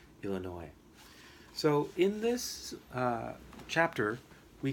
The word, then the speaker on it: Illinois: We learned that Bybanks has a very strong English dialect, that they pronounce the American state Illinois in a different way. They say it Illinois in an exaggerated kind of way.